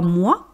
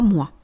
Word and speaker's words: mois: On a également une autre lettre muette 3 mois. Vous voyez le S de 3 et le S de mois, on ne le prononce pas, on dit 3 mois.